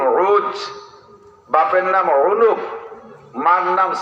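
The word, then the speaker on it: عوج: নামে উসপহলান শুনছেন না এর আরবিতে উচ্চারণ হলো আইন ও জিম উজ বাপের নাম উনুব মার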